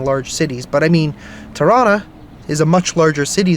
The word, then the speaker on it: Toronto: like if you're in Toronto um or toron depending on how you say it if you're Canadian you say Toronto you don't pronounce that last T um but yeah in